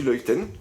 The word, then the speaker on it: Luyten: là on va commencer avec la chanteuse Maggie loïten c'est bien comme ça que ça se prononce bien ok donc on va aborder un